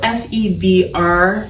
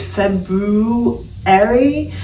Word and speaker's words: February: weird like name because it's spelled f-e-b-r-u-a-r-y so technically it's february but i feel like everyone including myself like i feel like we say february so the second month